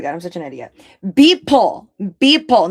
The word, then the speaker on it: Beeple: Beeple, not Bibot. Beeple.